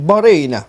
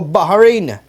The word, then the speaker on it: Bahrain: ibinagi ng Bonda na ang pagbigkas sa Bahrain na malokal ay naiiba sa na kasanayan o kadalasang naririnig natin imbes any diretsong Bahrain banggit na malukal ay mayroon mistulang Bigas na titik ha o Bahrain Baharin kasi yung letter